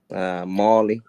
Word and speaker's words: Mally: Molly, like the mall.